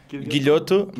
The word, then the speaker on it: Guilhoto: Yeah, I mean Guilhoto, but it's really hard because of the LH.